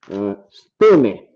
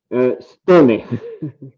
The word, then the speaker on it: Stoney: to you listen was stoney of course you may be pronounce it stone but yeah it's stony stoney okay all right yeah